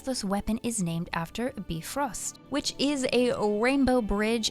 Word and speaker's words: Bifröst: It is missing an umlaut, and if you're not sure what that is, that's the 2 dots above the O vowel. Perhaps our pronunciation in-game is more Bifrost after all.